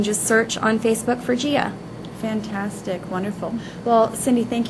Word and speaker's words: Jia: we wrap it up we are gia salon and spa and that's spelled with a j confuses a lot of people but we are at